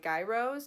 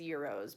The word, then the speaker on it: gyros: are pronounced as like guy rose kind of like a gyroscope but they are supposed to be pronounced as euros basically the g is almost silent um so i researched